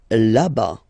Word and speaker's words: là-bas: Là-bas. Là-bas. Remember final S not pronounced.